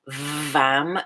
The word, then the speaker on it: Vam: The second chakra, the sound, if you want to write it down, is Vam, V as in Victor, A-M as in Mary.